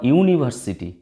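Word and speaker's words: university: আবার ইউনিভার্সিটি, এটা দেখো ইউনিভার্সিটি, ইউ, ইউ, ইউ এর মতো উচ্চারণ হচ্ছে, অর্থাৎ ইউ বা ওয়া হলে অ্যানের পরিবর্তে এ হয়, এ ইউনিভার্সিটি।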